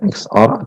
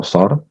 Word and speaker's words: XOR: Bebas kalian mau bacanya XOR atau SOR, tapi kalau saya akan lebih sering menyebutkannya sebagai SOR.